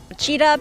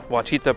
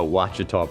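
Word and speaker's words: Ouachita: at the roosevelt and have a sazerac drink cheetah parish kachita parish cheetah parish alchita wichita maybe it's wichita wachita parish a wachita parish a wachita parish turban parish terrebonne terrabone parish tarabani terrebonne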